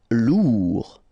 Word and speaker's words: lourd: Lourd. Final D not pronounced.